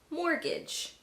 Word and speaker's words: mortgage: Other common words in the English language with a silent T: mortgage, Christmas, chestnuts.